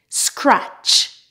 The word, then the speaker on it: scratch: Normally, when you have a word that has T before CH, the T is silent. For example, butcher, catch, match, patch, scratch, witch.